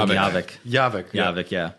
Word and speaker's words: Javik: God, Javik. It's Javik, right? I think it's Javik. oh, I call him Yavik. Javik. Yeah. Yavik, yeah. It's not Okay. Yavik, it's Javik.